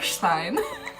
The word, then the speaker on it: stein: the lady because I'm sorry but it's actually pronounced beer Steen and she goes a what who don't do